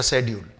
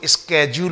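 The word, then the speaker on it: schedule: यहां पर इसका ब्रिटिश प्रोनंसिएशन शेड्यूल ही है, शेड्यूल. लेकिन कुछ लोग अमेरिकन प्रोनाउंसिएशन के आधार पर इसको स्केड्यूल बोलते हैं. क्या बोलते हैं? स्केड्यूल. हालांकि स्केड्यूल अमेरिकन इंग्लिश में बिल्कुल सही है. स्केड्यूल मैं लिख भी देता हूं, स्केड्यूल. लेकिन ब्रिटिश इंग्लिश के अकॉर्डिंग इसका प्रोनाउंसिएशन शेड्यूल ही होता है और हमें ब्रिटिश इंग्लिश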